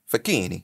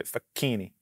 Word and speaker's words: Facchine: do you pronounce it with accent fakini yeah now well first of all you put your fingers together was and you say fakini it's like shed on